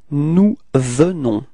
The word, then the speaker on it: nous venons: First person of the plural, it's nous, and then we get this nous venons, okay? Keep in mind that E is pronounced like E, so it's the, venons. Final S is not pronounced, okay?